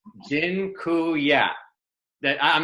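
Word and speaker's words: dziękuję: taught you all the a polish word for thank you it's genku yeah that I'm not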